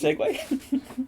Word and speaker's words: segue: wanna tell me nice segue no it's not pronounced cig you that's actually pretty spelled